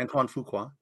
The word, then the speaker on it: Antoine Fuqua: Is that the correct pronunciation? Yeah, Antoine Fuqua.